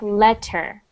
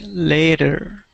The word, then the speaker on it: later: so important is because you don't want your version of later to sound like letter so see that spelling that's the way that you're pronouncing it before sounded like a letter like you were writing a letter so i wanted to sound like a later okay later good next